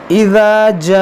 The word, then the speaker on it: جاء: اذا جاء نصر اللہ والفتح. دیکھیں یہاں پر ذال ہے اور جیم ہے، دونوں میں فرق کرنا ہے. ذال کو نرمی سے اور جیم کو تھوڑا سختی سے.